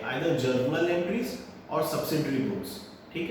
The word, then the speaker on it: journal: Recording दो तरीके से होती है, आइदर जर्नल एंट्रीज या स्पेशल पर्पस बुक्स। जनरल नहीं बोल रहा हूँ बेटा, जर्नल बोल रहा हूँ, JOURNAL, जर्नल एंट्रीज।